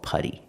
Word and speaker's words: putty: we use putty pronunciation putty use a relaxed sound uh closed it's a more closed sound Putty Putty again use that fast D not put D but Putty Putty what is he